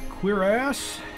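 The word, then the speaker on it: cuirass: armor queer ass still doesn't seem right to say that word but that's the way it's pronounced i noticed on star wars mandalorian or boba fett they called it something else they pronounced in some other way chorus or something i wouldn't even known it but i saw the subtitle actually looked up the pronunciation i'm the one that pronounced it right okay uh let's see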